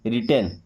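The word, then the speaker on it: written: 10 क्या है 10 अब एक बात ध्यान रखिएगा कि आर के पहले कभी भी अगर डब्ल्यू लिखा है तो ये पढ़ा नहीं जाएगा साइलेंट लेटर होता है ओके इसे अब देखिए यहां से पढ़ेंगे रिटेन क्या पढ़ेंगे रिटन क्योंकि डब्ल्यू तो हमारा साइलेंट है ना रिटेन का मतलब होता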